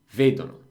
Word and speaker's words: vedono: Loro, the accent on the verb, basically every tense, every verb is always one to the left. So vedete, vedono.